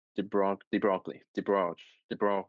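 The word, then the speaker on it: de Broglie: So we can talk about the broccoli wavelength or I actually check the actual pronunciation is deo the bro de the broccoli de bro de the bro w w w w w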